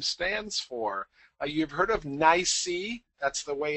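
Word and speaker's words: NYSE: what the acronym stands for you've heard of nicey that's the way it's usually pronounced and it stands for the new york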